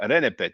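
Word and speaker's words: rnpt: So the consensus of Egyptology is to add vowels between the consonants. So here we have R, N, P, T. We'll pronounce that Renepet.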